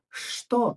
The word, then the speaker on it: что: Careful, look at this word. It is written with a ch later, but we pronounce it as sh. We say, что это? Repeat after me. Что это? But we write что это.